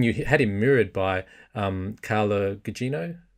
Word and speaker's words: Carla Gugino: And then you had him mirrored by Carla Gugino. Is that how you pronounce her? Yeah.